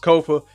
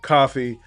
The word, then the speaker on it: Kofa: Once again, I've been your humble host, Kofa, Kofa, not coffee, not, not Kofi, or any variation thereof. Kofa rhymes with sofa.